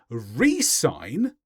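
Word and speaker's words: re-sign: Although with the last one, there would be a pronunciation change. When you resign, that means you leave. But if you resign, then you go back to where you were.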